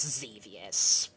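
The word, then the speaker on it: Xevious: think about it seus most people pronounce it as zevious whatever it's a shoot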